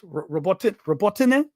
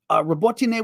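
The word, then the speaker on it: Robotyne: CNN interviewed a Ukrainian officer who said the area between the villages of Robotine, which I've been pronouncing correctly, more or less, Robotine, I'll do it that way, Robotine, and Verbove, who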